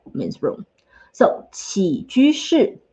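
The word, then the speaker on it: 起居室: So then the other word for living room is 起居室. Told you it's a little bit hard to pronounce. Let's do it again. 起居室.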